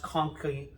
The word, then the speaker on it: conchae: And I know they're supposed to be pronounced conchae, but it just sounds funny to me.